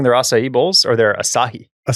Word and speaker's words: Asahi: Are they splitting their acai bowls or their Asahi? Asah. I never know how to say it. Is that how you say it?